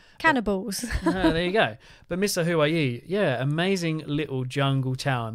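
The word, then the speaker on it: Misahuallí: Bigger city, it's half an hour away from Misa Hawaii, which is spelled M-I-S-A-H-U-A-L-L-I.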